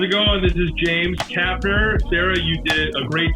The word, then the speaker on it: Kapner: This is James Kapner. Sarah, you did a great job to pronounce it correctly. Um, kudos to you. A lot of people say Kaplan, uh, if they have any experience with Jews.